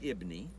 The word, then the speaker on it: Jabin: Jabin, king of Hazor, Jabin, that's the way it shows up in English. We have in some of these documents out here the name Jabin. They pronounced it Ibni.